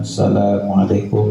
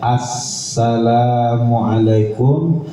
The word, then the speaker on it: assalamualaikum: Ingatkan kita mengucapkan salam itu k boleh kita mengucapkan asalamualaikum warahmatullah. Asalamualaikum warahmatullah. Tertinggal alif lamnya. Jadi harus ada assalamualaikum. warahmatullah. Jangan Asalamualaikum warahmatullah.